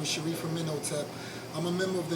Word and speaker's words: Amenhotep: Amenhotep, right? Yes, ma'am. Sharif Amenhotep.